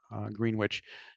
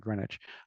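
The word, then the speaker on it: Greenwich: had a farm in uh green witch which is how you pronounce it I believe it's not grenwich um and uh it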